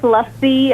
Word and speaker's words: lassi: There's lassi. I give her lassi. That's the one she likes. Spell it for me.